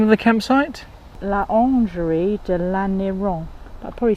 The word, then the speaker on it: Orangerie: La Orangerie de l'Aniron. I probably said it wrong. Lingerie. It sounds like lingerie. La Orangerie de l'Aniron. Orangerie, yes.